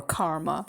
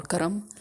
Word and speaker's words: karma: call that Karma which the people who do not know how to pronounce it properly in the west they call it karma or Karma but it's actually Karma or Karam and it's because of the I really believe it is Karam or Karma because um